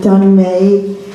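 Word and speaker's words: Dhun May: Dune May, I may not pronounce that right. Ma'am? All right. Sharon Hello, King and Craig my name is- Cadwalader. I'm Dun May, D-H-U-N, last name M-A-Y.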